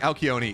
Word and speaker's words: Alcyone: I mean, to my understanding, like Alcyone is the Greek pronunciation.